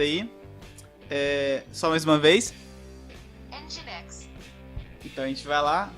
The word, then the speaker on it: Nginx: Para falar a pronúncia certa aí. Só mais uma vez. Nginx.